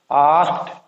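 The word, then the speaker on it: asked: की आवाज़ ये वाली, यहाँ पे डी की साउंड जो है वो नहीं आ रही, आस्क्ड, आस्क्ड, टी की साउंड है।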